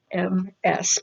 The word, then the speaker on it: Ms.: this is where you would use the Ms., M-S period, but it's pronounced Ms.